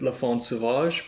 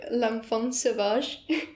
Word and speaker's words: L'Enfant Sauvage: back to Gojira now the song I can't pronounce I go with Lafon Sauvage but you spoke will speak some basic French can you help me I'm super basic I think it's more like L'Enfant Sauvage okay yeah but I'm probably